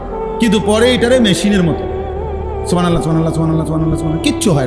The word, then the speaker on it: সুবহানাল্লাহ: সুবহানাল্লাহ। সুবহানাল্লাহ। কিচ্ছু হয় না। হা উচ্চারণ না হলে তো তাসবি হয় নাই। শেষের গোল হাটা সাকিন করতে হবে।